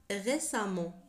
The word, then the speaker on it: récemment: يُكتب "récemment" ولكن يُنطق "ré-sam".